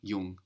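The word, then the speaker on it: jung: same in German and here it is Yang Yung how would you say my brother is young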